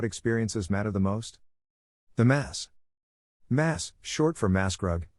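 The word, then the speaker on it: Maß: matter the most the mass mass short for mass grug is the enormous dimpled Stein glass mug in which Octoberfest beer is typically served the term is pronounced appropriately with a lengthy a sound it gets its name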